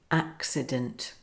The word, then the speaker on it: accident: Now, let's apply the rules to the word accident. Here, both hard C and soft C are together. The first C is followed by another consonant, C, and therefore it takes on the hard K sound. The second C is followed by the vowel I, so it's a soft C.